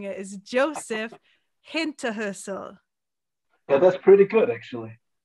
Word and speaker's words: Hinterhölzl: saying it, is Josef Hinterhölzl. Yeah, that's pretty good, actually. Yeah. How do you say it? actually, we say Josef Hinterhölzl. Hinterhölzl. Hinterhölzl. Okay, it's the.